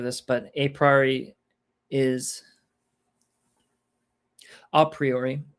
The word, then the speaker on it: a priori: Basically, and we've kind of gone over this, but a priori is a priori is how it's pronounced usually.